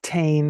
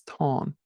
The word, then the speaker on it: Táin: That's T-A-Fada-I-N, not Tain as most people pronounce it. It's Táin.